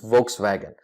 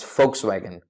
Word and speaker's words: Volkswagen: mispronouncing this name as Volkswagen unfortunately this German car makers brand name is not pronounced as Volkswagen but as folks wagon as folks wagon and